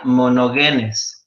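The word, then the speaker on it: μονογενής: de la palabra unigénito en el griego es o se pronuncia mono genes y quiere decir el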